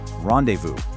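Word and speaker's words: rendezvous: Rendevu. This word is straight out of France. And in French, you often don't pronounce the consonants at the end of a word.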